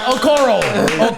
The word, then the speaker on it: Okoro: Okoro.